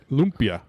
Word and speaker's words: lumpia: There's an accent over the U. Lumpia.